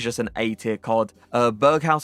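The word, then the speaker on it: Berghuis: an eight-tier chord uh Berg house I believe is how you say it lean body type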